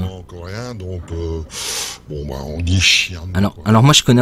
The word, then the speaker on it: Xian: théorie, il y a eu une petite discussion, et d'après Reverse, on devrait dire Xian. Xian. Donc Donc. le XI est plutôt, se prononce plutôt comme un CHI, quoi.